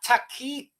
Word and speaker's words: taqiyya: Taqiyya, Debbie Doobs is saying it's pronounced taqiyya, Sean.